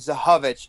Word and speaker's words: Zychowicz: Is there a big like you get like weird, like I have a friend named Zahovich, and it's spelled like ZYCHOWICZ.